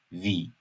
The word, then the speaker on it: Wie: Tam tersi olarak i'den sonra e geliyorsa uzun i şeklinde okuyoruz. Örneğin "Sie, Wie".